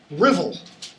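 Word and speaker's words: Ruthwell: see on that page it's spelled ruth well but it's pronounced rivel like drivel okay um one of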